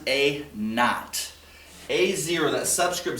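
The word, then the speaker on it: A₀: Teachers pronounce it A naught.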